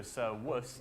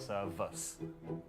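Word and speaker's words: servus: Oh, by the way, another thing about Latin pronunciation is V's, you pronounce them like W's. So Sir Wus, not Sir Vus.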